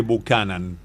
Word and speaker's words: Buchanan: Yo te dije Buchanan. Está muy bien. Lo dijiste bien.